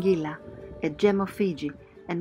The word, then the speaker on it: Qilaqila: Yes We leave Daliconi village and sail to awesome Qilaqila (pronounced Ngilangila) a gem of Fiji and one of the most beautiful and safe anchorages we have ever been Fantastic!